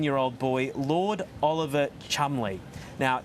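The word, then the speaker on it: Cholmondeley: a young 13 year old boy Lord Oliver Chumley now it's spelled chobondale or something like that it's pronounced Chumley now he's a twin his older brother clearly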